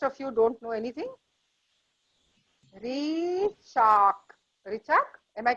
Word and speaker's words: Richa: I'm sorry, I mispronounced your name. Richa, R-I-C-H-A.